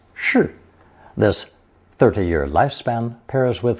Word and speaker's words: 世: Pronounced shi, this 30-year lifespan pairs with several other characters